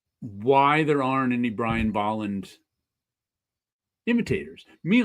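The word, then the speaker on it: Bolland: It's pronounced Baland and not Boland.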